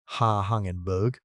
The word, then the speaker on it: Hangenberg: Hangenberg, pronounced Ha Hangenberg, around 359 million years ago did its worst work on land and it is the weird one.